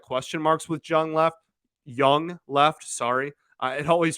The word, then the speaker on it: Jung: a lot of question marks with Jung left young left sorry uh it always trips me up because it's spelled Zhang and it's pronounced young but uh you know the question marks around